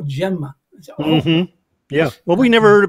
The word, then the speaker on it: Gemma: um like you know for 10 years giuliano gemma and then somebody said no gemma yeah well we never